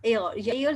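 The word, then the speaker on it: heir: have no mail mail एरर जो H silent यहां पर आ जाता है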